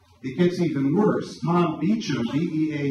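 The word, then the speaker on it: Beauchamp: Tom Beichchum, EA U- M, it might be pronounced BAM, is one of the most notable bioethicists in the world.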